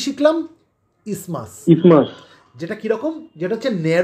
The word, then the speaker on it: isthmus: এখানে একটা জিনিস বলে রাখি, শোনো, ইসমাসের স্পেলিংটা দেখো, ISTHMUS, কিন্তু আমরা এটাকে কিন্তু ইস্থমাস বলবো না, আমরা এটাকে ইসমাসই বলবো, ঠিক আছে? বোঝাতে পারছি? হ্যাঁ স্যার, টিএইচটাই থাকবে, টিএইচটা সাইলেন্ট থাকবে, আমরা ইসমাস বলবো, ঠিক আছে?